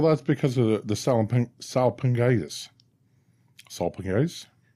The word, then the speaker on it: salpingitis: Salpingitis? Salpingitis. Okay. Yeah, you said it right. You nailed it.